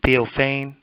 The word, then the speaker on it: Theophane: your your last name do you pronounce the pH as F like Ashley theophane very good and um